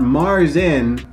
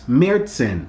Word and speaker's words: Märzen: been saying it wrong it's not mars inn it's mertzen so next up uh